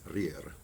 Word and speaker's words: rire: And so here's a really funny one that you have to say with two rolled R's. It's rire, rire, rire.